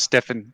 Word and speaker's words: Steofane: I think it's Steofane. Yeah, it's all good. It's Irish. It's pronounced Stefan, but Irish.